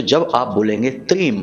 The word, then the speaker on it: त्रीम: तो अब ध्यान से सुनिए, इस मंत्र का उच्चारण हमें करना है त्रीम।